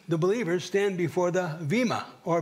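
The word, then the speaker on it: bema: But as Pastor David alluded to in his closing comments, we, the believers, stand before the Vima or Bima seat of Christ. It's B-E-M-A, but it's pronounced Vima.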